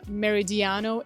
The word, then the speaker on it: Meridiano: I always like to pronounce it in the Spanish way, in the Dominican way because that's basically how we how we pronounce most of the projects with these names, but again, in English it would be Meridiano 18.